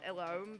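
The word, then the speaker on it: Ellone: I know it's pronounced Elome, but I prefer the pronunciation Elene. It just sounds prettier.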